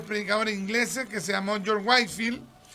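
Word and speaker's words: Whitefield: ingleses que se llamó George Wifield, ya se escribe George Whefiel, ¿ya? Pero se pronuncia George Wifield.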